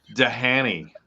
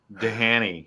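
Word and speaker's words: Dhani: no no i'm down like dahani dahani harrison danny harrison yeah that's how it's spelled dehanny harrison i read somewhere that the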